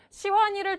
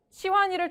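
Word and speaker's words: 喜欢: 누구를 좋아한대요 저는 시완이를 정말 좋아해요 그래서 중국어로 시환니 좋아해가 중국어로 뭔지 아세요 시환이 좋아해는 시환 시환이 뭐라고요 시환 시환 이래요 뭐래요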